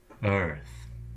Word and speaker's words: Earth: see how you did Earth that's one syllable I know they're two written vowels but do not trust your eyes pluck them out lest they offend you Earth the EA and the r are all subsumed together into